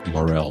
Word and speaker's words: Morel: was Kip Morel and hopefully I I pronounce it like Morel like the mushroom but it's spelled different and uh Kip is